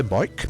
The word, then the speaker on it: Vajk: Yo estos húngaros hacen unas cosas muy raras, o sea, se llama Bach, pero dice Boik. Boik.